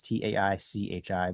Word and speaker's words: Tai Chi: mechanism that we employ that is spelled TAI in a lot of cases JI, or in the more American version, it's TAICHI, but it's Tai Chi. And it's not chi as in the QI, the life force energy.